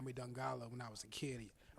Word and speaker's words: Dongala: Today I am sitting with Dongala. Dongala. I guess it's the same. It's just how you say it. I was like, Dongala? You know what I'm saying? But it's Dongala.